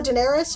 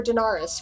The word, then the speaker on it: Daenerys: gonna remember right like do people call Oh Daenerys or Daenerys we don't really know actually george RR martin pronounced it Daenerys great most other people pronounce it Daenerys right everyone calls her